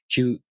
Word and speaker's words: きゅ: These are pronounced with the K sound for ki plus a, u, o.